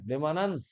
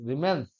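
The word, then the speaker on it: remanence: রেমান রেমান রিমেন্স Reigns রিমান্স দেখি দাঁড়া দাঁড়া বানানটা দেখি এটা আমার গন্ডগোল কোথাও আছে তোদের বইয়ে রেমনেন্ট ম্যাগনেটিক ফিল্ড বলে কোথাও একটা জায়গায় দেখুন দেখলাম বাট না এটা রিমেন্স নয় এটা রেমানেন্স বলে বা রেমনেন্ট ফিল বলে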